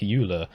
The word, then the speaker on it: Euler: If I make a video where I have to say a word that has two popular pronunciations like Euler, or Euler, I have to choose one.